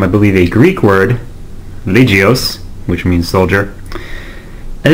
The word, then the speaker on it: Legioss: believe, a Greek word, Legios, which means soldier, and it also rhymes with Macross and Orgus.